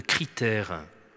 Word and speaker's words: critère: Et si vous êtes très pressé, je vous conseille d'aller voir la méthode critère, comme ça se prononce.